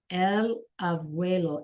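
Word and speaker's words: abuelo: L auelo. And that B sounds like a B and a V put together.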